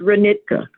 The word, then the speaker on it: Reka: no no it's not tell me how to pronounce it's Reka Reka okay I'm sorry for